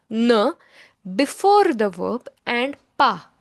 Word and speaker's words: pas: Ne is pronounced as ne before the verb, and pas is pronounced as pa, not pass.